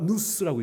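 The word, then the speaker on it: νοῦς: 이 지혜라는 이 헬라어가 누스라고 읽어요. wisdom 영어 말고 누스.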